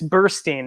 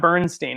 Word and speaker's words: Burstein: have i actually yeah there's no m it's bursting no burn it's not bernstein it's bursting brilliant yeah i will